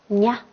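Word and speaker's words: ཉ: 好，它的这个发音方法呢是浊鼻音。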